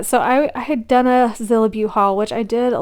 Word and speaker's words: Zillabeau: to pronounce it but my understanding is supposed to be a combination of Godzilla and Beauty so that's why it's zillibu so in any case